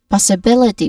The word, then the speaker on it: possibility: Possibility which has five syllables starting with pause which has a short o vowel sound and then awa sound and bill which has a short e vowel sound and t still with a short e vowel sound. So we try to practice saying it like strong possibility stressed on bill.